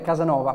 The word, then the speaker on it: Kazanova: e la Z quindi la pronuncia esatta del vostro gruppo com'è Diciamo che è Casanova perché anche in turco si pronuncia così però è scritta con la k e la Z diciamo un po' diverso